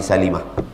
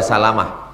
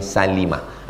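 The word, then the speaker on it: سَلِمة: Min bani Salimah. Jangan baca Salamah. Min bani Salimah. Ada memang Salamah. Abu Salamah, Ummu Salamah. Tapi yang ini Bani Salimah.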